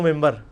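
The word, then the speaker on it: منبر: ہوئی ہے، محراب و ممبر. ممبر کے سپیلنگ کیا ہے؟ من بر، لیکن پڑھا کیا جاتا ہے؟ کیوں؟ کیونکہ نون کے بعد، نون ساکن کے بعد بار ہے.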